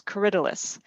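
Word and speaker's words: Corydalis: michelle asked about um c-o-r-y-d-a-l-i-s and i checked the oxford english dictionary which i have access to it says coridilus and that's correct we started growing it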